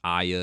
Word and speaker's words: Aya: As I was doing this review, Jehovah God put this in my mind that, Aya's name is pronounced Aya, and it's revealed like near the end of